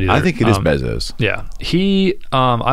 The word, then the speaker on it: Bezos: As you observe him from a distance, Bezos. I don't know how to pronounce it either. I think it is Bezos.